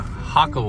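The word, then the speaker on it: Jacó: walk and of course hako is spelled j a so Spanish is hako but as you go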